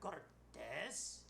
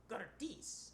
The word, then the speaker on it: Cortese: me and he says mr cortes and i say to him it's pronounced cortese and he says to me